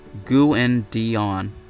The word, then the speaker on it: Gavadon: It is pronounced Gu-in-Dion.